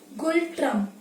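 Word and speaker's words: Ngultrum: लिख देती हूँ क्योंकि इसमें एन साइलेंट पे है, तो इसकी करेंसी है गुल ट्रम्प। ठीक है, यहाँ पे एन साइलेंट पे है, ये आपको विजिबल नहीं होगा, तो गुल ट्रम्प।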